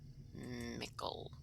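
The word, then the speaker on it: Michel Delving: be coming up to i always called it michael delving because m-i-c-h-e-l but apparently that's pronounced nickel anywho um participate in you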